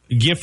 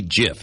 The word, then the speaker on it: GIF: played off of that it's supposed to be GIF not GIF really I've never heard most people say GIF and that drives me nuts really it does I'm sorry that that drives you nuts I'm so I'm supposed to say GIF like peanut butter because I love GIF peanut butter sure oh my gosh